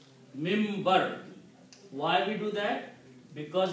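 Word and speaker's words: minbar: In writing it is written minim. This is the pulpit. How do we pronounce mimber? We pronounce noon as a mean. Mimber.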